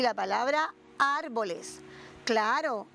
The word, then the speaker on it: árboles: grandísimo y la palabra árboles. Claro, ¿y por qué se quedaron sin casitas? Bueno, porque estas palabras tienen la fuerza de pronunciación en la antepenúltima sílaba y son palabras esdrújulas.